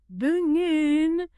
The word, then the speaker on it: button: sound in American English, especially before an N sound at the end of a word or sometimes in the middle, like in button. Exactly. Instead of button, you often hear bungen.